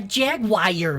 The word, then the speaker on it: Jaguar: A jaguar, look. Jaguar. What? The name. It is pronounced Jaguar.